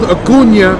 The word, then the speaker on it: Acuña: And Ronald Acuña Jr., that's the correct pronunciation, y'all.